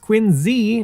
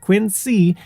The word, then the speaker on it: Quincy: As for Quincy, which yes, is pronounced Quincy, not Quincy, the city is home to the Adams National